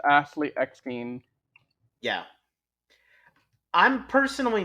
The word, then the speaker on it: Eckstein: were against her playing Ahsoka instead of Ashley Ekin. How do you pronounce her last name again, Riz? I'm sorry. I think it's Ashley Eckstein.